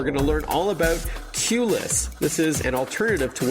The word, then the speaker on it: QLess: For our listeners, QLess is spelled the letter Q, L-E-S-S, but a cute play on words, of course, as you're all about reducing the need for a queue or a lineup, as we say here in North America.